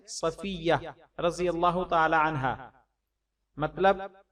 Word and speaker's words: صفیہ: رضی اللہ تعالی عنہا، اس کا تلفظ بھی کچھ لوگ صفیہ ادا کرتے ہیں، درست تلفظ ہے صفیہ رضی اللہ تعالی عنہا،